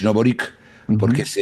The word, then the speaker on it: Boric: Y Boric, que todo eso se pronuncia Boric, no Boric, porque Ujú. es un apellido croata. La C es CH.